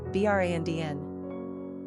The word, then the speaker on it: Brandon: Pronunciation, Brandn.